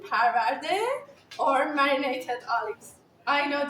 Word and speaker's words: Parvardeh: I want to pronounce Okay, that. I was They excited. call that Zeytoon, Parvardeh, or marinated olives.